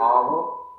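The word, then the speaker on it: hour: जब हम इन्हें देखते हैं तो इन सबका पहला लेटर एच और वाई जो है वो साइलेंट रहता है।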